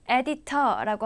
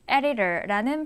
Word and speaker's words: editor: 그것은 미국 발음은 중간에 D와 T가 있으면 그 발음은 거의 리을 발음으로 소리가 나기 때문이에요. 그래서 editor라고 하지 않고 editor라는 발음으로 들렸다고 생각하시면 됩니다.